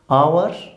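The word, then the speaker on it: hour: कई शब्द हैं जो एच से बोले जाएंगे, एच साइलेंट होगा, ऑनेस्ट, आवर, ऑनर, ऑनरेबल, ठीक है। जैसे आई एम आवर लेट, कई बच्चे इसको हावर बोल देते हैं, हावर नहीं, इसमें एच साइलेंट है, क्या बोलेंगे इसको,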